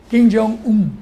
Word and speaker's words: Kim Jong-un: Kim Jong-un. Kim. Un, Kim. Porque lo pronuncian así, un.